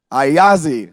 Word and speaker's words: Ayasdi: who is the founder of Assad can someone pronounce it for me so we know I Ozzy there it is so and what they do